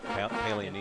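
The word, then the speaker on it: Paglianiti: I was instructed not to pronounce the G. Pallianiti, yeah. Pallianiti.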